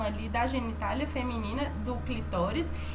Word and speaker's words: clitóris: e a gente tem o clitóris que não é clitóris é clitóris tá bom atendendo ó então é assim que a gente pronuncia corretamente o clitóris ele é um